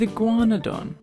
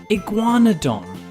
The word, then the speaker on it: Iguanodon: With Iguanadon. We hoped you enjoyed learning about the ferocious Baryonyx. To learn about more dinosaurs, now it's time for Iguanadon.